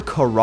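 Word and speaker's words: Kharaa: Or Kara, I guess it's pronounced, going off of this audio log.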